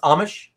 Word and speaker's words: Amish: sorry is it is it pronounced Amish yes like the Dutch Amish like Amish okay